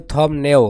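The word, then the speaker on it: 덥네요: এখানে উচ্চারণ হবে থম নেও, হ্যাঁ বিয়োগ বাসের পর যদি নিউন থাকে তাহলে বিয়োগের উচ্চারণ কি হয় ম হয়।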